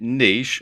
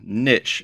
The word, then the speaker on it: niche: choosing the right niche or niche as some people pronounce it for your membership site